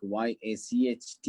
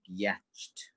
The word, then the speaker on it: yacht: see a word like y-a-c-h-t you're not gonna state like yatched you're going to understand the difference now because what yacht and then it helps